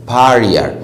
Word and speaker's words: barrier: وخلي بالك ان في النطق الار الاخيرة ديت يعني غالبا ما بتتنطقش، يعني بتقوم قايل ايه؟ barrier. يعني الار الاخيره دي ما تحاولش انت تنطقها قوي، يعني تجيب بس ايه؟ نصها عشان تنطق النطق الصح.